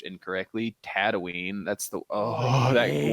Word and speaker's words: Tatooine: when he gets to what i hate is pronounced incorrectly tatooine that's the oh that it's tatooine not tatooine